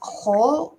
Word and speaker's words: whole: How can I pronounce the that word without the W? They sound the same, whole, but the Okay, context is different. The pronunciation is the same as a whole.